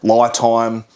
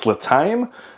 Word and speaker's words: LiTime: So, I would pronounce this as li time. Lie being the short for lithium. Um, they did send me a pronunciation thing. It says Latame.